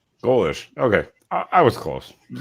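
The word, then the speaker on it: Golesh: It is exactly what it looks like. It's Glesh or Galish. Golish.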